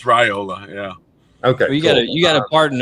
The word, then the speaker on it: Raiola: sounds it's right like they always put like Rye Ola like I know there are harder names in the roster to pronounce but it's raiola yeah okay you gotta